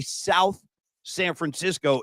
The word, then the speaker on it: South San Francisco: They were saying, don't say South San Francisco. It's one word, and don't pronounce the TH.